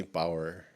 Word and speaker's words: Bower: Bauer. Thank Did you I for pronounce having that me.